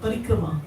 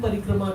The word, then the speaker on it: parikrama: Well, parikrama is to, thank you for pronouncing it correctly. Everybody says parikram. We went to parikram. Kram means a schedule of hard work, so parikram means a big schedule of hard work. But the long A it's a long A in the end. You can't drop it.